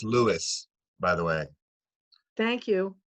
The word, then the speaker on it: Lewes: in our community here it's and it's it's pronounced lewis by the way thank you yeah you're welcome